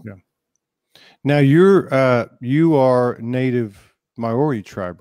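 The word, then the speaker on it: Māori: Now you are native Maori tribe, right?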